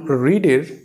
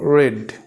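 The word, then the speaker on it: read: form উচ্চারণ উচ্চারণ করব তখন হচ্ছে আমরা উচ্চারণ করব রেড নট রিড সো he might have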